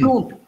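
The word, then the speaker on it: सूंठ: एन इज not pronounced N nasalizes that oo. It becomes oom, okay. Oom. Otherwise, it becomes, there is a difference between suit. Suit means discount and soont. So you pronounce the N. Soont. We don't pronounce N. We, that N nasalizes the previous vowel oo.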